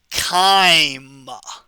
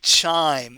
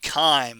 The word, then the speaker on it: chyme: ever hear you say chime it's called chyme okay almost every time we have a ch anatomy class we pronounce it with a hard k k sound like 99 percent of